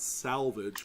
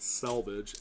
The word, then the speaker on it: selvage: Not salvage, but selvage, S-E-L is how it's spelled.